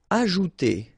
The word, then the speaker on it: ajouter: Ajouter. So remember, j is really pronounced like j.